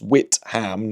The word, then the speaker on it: Witham: Also, real gig in Witham, it's pronounced Witham, not With am. You'll need to get it right.